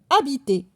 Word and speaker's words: habiter: Ici, le verbe habiter, il commence avec un H muet.